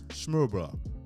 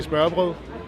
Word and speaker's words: smørbrød: We had open sandwiches and smørbrød. open sandwiches, aka smørbrød.